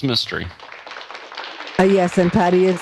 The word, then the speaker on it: Mistry: I'm afraid not roxtor Pranav Mistry that's right pronounced mystery but yes and Patti